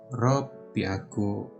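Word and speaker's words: ろっぴゃく: Rokunya ini kunya dihapus, ininya dihapus, jadi ropyaku.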